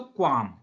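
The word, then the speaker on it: qualm: होंगे नेक्स्ट है दोस्तों क्वाम क्वाम में गौर करिए एल लिखा है जो कि साइलेंट होता है क्वाम में एल लिखा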